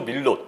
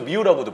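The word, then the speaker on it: Millot: 엔조 밀롯 혹은 뭐 엔조 미우라고도 부르는 이 선수가 이제 그 결승전에서 다란히 골을 터뜨렸죠. 미오 선수도 저는 미우라는 발음이 편해서 미우라고 좀 부르는데 이 선수도 제가 느끼기에는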